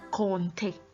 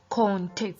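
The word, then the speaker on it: compter: to count in the french language is conte conte please notice the pronunciation of that word conte conte so i'm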